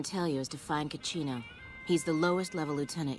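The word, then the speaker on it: Cachino: I'm gonna go talk to Caccino. Rhymes with casino.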